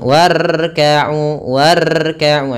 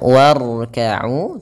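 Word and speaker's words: وَارْكَعُوا: kita baca dengan tebal Jangan war atau jangan banyak e seringjadi kesalahan dalam melafalkan ro itu banyak takrirnya takrir itu pengulangan war war salah tapi dia sekali saja untuk pengulangannya warkau terus r-nya tebal warkau warkau ya di sini Uya panjangkan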